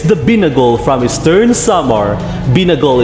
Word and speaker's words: binagol: Binagol is pronounced with a longer stress on the A.